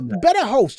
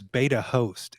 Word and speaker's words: BetaHost: though that quite interesting we do think of it as beta host you know beta okay I said it wrong started with our kids